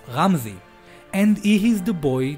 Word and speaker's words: Ramzi: The older boy's name is pronounced Ramzi, and he is the boy that we saw in Eren's memories.